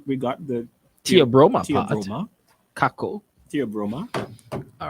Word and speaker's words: cacao: version of cocoa oh you were saying it's not coco coco for anyone it can't be coco taco cacao great yes you won